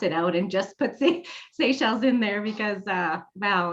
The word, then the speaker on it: Seychelles: Seychelles. All the way this morning, I kept saying, okay, Rhonda, this is how it's pronounced.